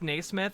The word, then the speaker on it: Naismith: Pronounced Naismith.